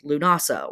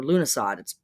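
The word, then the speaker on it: Lughnasadh: And our Leo symbolism and Leo vibes are very much in league with our next up Sabbath, which is Lunasa or Lunasad. I've heard it pronounced both ways.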